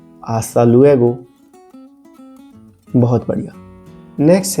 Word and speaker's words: hasta luego: मिलेंगे उदाहरण के लिए आस्ता लुएगो कार्लोस फिर मिलते हैं कार्लोस ध्यान रखें कि इसमें एच का उच्चारण नहीं होता एक बार फिर से बोलते हैं आस्था लुएगो बहुत बढ़िया नेक्स्ट है